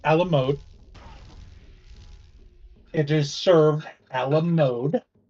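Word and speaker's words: à la mode: ice cream on it it's pronounced Alam mode it is served Alam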